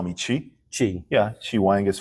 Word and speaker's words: Chi: easier Chi Wang yeah chaii is my full direct literal translation of my Chinese name but I found out people have problem pronouncing that for you know for years I found a proun just call me chi I go that's much